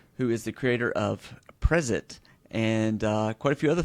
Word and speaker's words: Prezet: It's a made up word, but I've been pronouncing it Prezet. So, like, as if it was a preset for Markdown blogging, just changing the S to a Z, but it doesn't really matter. So, Prezet, sweet, sweet.